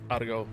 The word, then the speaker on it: Atago: No, I've heard it say uh adigo from the Japanese. I hear it constantly in anime called adigo. Now, if you're going to go with the straight uh US English atago.